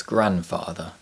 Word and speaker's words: grandfather: There are several common words which contain the silent letter T, such as Christmas, and the silent letter D, such as grandfather.